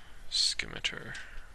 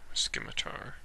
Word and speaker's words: scimitar: about upgrading my uh skimatar scimitar i've heard it pronounced both ways so all right since